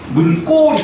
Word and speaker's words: 문고리: 그러니까 뒤에 거를 된 소리로 발음해 주라는 거예요. 문고리 이렇게.